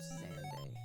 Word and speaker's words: Xande: it's the wiki, where he's officially called, officially pronounced Xande.